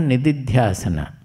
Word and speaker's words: निदिध्यासन: उसका है कि बोलते हैं हम, उसका साधना है श्रवण मनन निदिध्यासना। श्रवण मनन हिंदी में, निदिध्यासना संस्कृत होने से आखिर का अक्षर को पूरा प्रोनाउंसिएशन होता है।